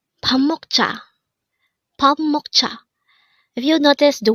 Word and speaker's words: 먹자: Meokja. Meokja. This is pronounced as a two-syllable word. The first syllable is mok, the second syllable is ja.